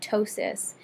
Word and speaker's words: ptosis: word for drooping is ptosis the p is silent it's a greek language thing the p is silent so it's pronounced ptosis and you'll also see